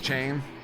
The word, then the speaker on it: Chain: Is that Chaney? If I'm saying his name wrong, is that supposed to be Chaney? Someone in the chat, let me know. Or is it Shane? Oh my goodness, is that Shane? Undarb, sending it in. So I have been saying it right? Chain?